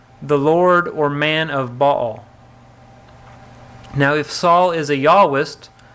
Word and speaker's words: Baal: Well, you're pronouncing it Baal, like two syllables, so sounds like the second syllable is Al or El. No, here I do mean to just be Baal, the name, rather than... So the Baal doesn't have a connection with El? No, in the Hebrew you have a different consonant to separate them out for you. We just don't pronounce those consonants in English, so it gets lost.